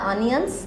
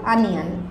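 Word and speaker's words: onion: Slice the অনিয়ন্স in circle. Slice the অনিয়ন্স in circle. এখানে আসলে উচ্চারণটা একটা ব্যাপার, অনিয়ন না, ওয়ার্ডটা হবে আনিয়ন। আনিয়ন।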